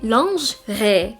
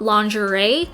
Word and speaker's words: lingerie: I am personally not a fan of wearing lingerie out in public, or in France you say lingerie. It's not lingerie. It's just two syllables.